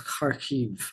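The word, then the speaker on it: Kyiv: Russia has launched a barrage of missiles against Keev and Khiv. That's how you pronounce Khiv.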